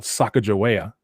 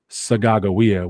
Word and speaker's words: Sacagawea: who you would call sacajawea but it's actually pronounced and it's a hidatsa word sagagowia which means bird woman